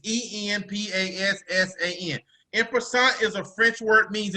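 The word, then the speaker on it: en passant: one uh i don't even know if i'm pronouncing it right what is prasant oh it's e-n-p-a-s-s-a-n imperson is a french word means in passing watch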